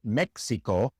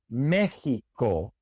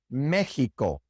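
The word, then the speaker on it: México: These tend to be place names such as Mexico and deas. Mexico in Spanish is not pronounced Mexico. It's pronounced Mexico even though it's spelled with an X. Mexico.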